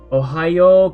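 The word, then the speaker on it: おはよう: hiragana what actually happens it's an extra o in pronunciation like we pronounce it it's not yo oh no one says oh it's ohio ohayo gozaimasu and notice when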